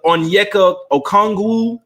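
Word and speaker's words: Onyeka Okongwu: hill galinario off the bench uh oh neca onyeka okongw that's how you say his name one through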